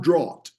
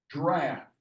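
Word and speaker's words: draught: a u g HT that's not draw that word is pronounced draft d r a f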